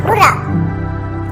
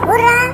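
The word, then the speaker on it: hurrah: आपके सामने सबसे पहला एग्जांपल है हुर्रा। इसे हुर्रा या हुर्रे दोनों तरीके से प्रोनाउंस किया जाता है।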